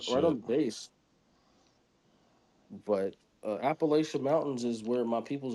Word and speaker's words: Appalachia: But Appalachian Mountains is where my peoples originate from, and then they moved down there. Dog, Well, you up don't even north. say it right. It's Appalachia.